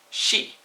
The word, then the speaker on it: ski: you would for instance the word for ski in Norwegian is she but it's spelled the same way SK I now there's a